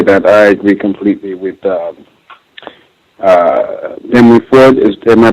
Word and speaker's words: Henry Ford: Just want to say that I agree completely with Henry Ford. Am I pronouncing it right correctly?